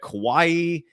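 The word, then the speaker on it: Kawhi: George um they got Kawaii uh so it's Kawaii dude uh they he always gone Kawaii it's Kawai kaai uh there's no e at the end there just Kawai that's what I said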